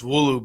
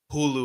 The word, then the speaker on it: Wulu: to say my name my name's wulu but I think he was calling me like Hulu or something Hulu bro yeah so